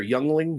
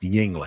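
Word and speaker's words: Yuengling: Yungling. Yingling. Yingling. Yingling. Yingling. Never had it before. Yeah. It's spelled with a U, but uh a Y. Well, Yu, but it's pronounced Yingling.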